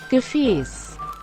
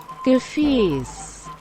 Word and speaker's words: Gefäß: Gefäß. Gefäß! I always forget that letter that looks like a capital B is actually an S sound. Gefäß.